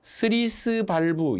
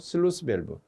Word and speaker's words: 슬루스밸브: 슬루스 밸브 슬루스밸브 슬루스밸브 현장에서 으로 일본식 영어 발음으로 스리스 발부 이런 식으로 적으면 안 되죠 슬루스밸브 그 우자 생략하면 어떻게